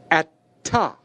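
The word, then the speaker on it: אתה: In terms of pronunciation, the sound of the tau will linger a bit longer or receive a bit more emphasis. Let me again pronounce the word. Atta.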